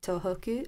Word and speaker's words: Tohoku: actually a tribute to a 2011 earthquake in Tohoku. I'm hoping I'm pronouncing Yes, you're it pronouncing it in the correct way.